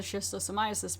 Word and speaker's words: schistosomiasis: And later we find out it's the schistosomiasis, but he's very sick.